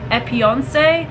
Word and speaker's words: Epionce: This is from a company called Epionce. And it may not be pronounced that way, but it's E-P-I-O-N-C-E.